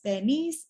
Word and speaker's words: Baniti: It's spelled out as Baniti, in which the TI is pronounced as S, and that's why my name is Bernice, and Kiribati is pronounced as Kiribati.